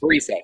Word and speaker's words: Parise: Parise. Yeah, that's what I figured. I just can't pronounce anything or enunciate very well.